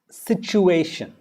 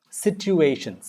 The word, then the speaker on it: situation: Pronunciation of situation. Situation. Situation. Shin. It's not sin. Shin. Situation. It's not situation. It's situation.